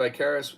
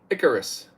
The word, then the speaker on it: Icarus: a big big difference Michael L says Steve I Caris is pronounced Icarus okay I always say I Caris I'm not